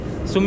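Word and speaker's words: ЦУМ: सुम ही बोलती है, TSUMT तो साइलेंट है, गुम सुम।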